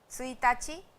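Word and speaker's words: ついたち: उसकी रीडिंग क्या है? का है उसकी रीडिंग यहां पे। तो सुताची यह एक एक्सेप्शन है।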